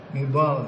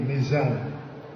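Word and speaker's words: نضال: n kalau yang ketiga nidal ya E tapi dengan ejaan Indonesia jadi nizal sebnya nidal nidal tu perjuangan tapi dengan lidah Indonesia nidal jadi nizal jadi Muhammad Muhammad mizal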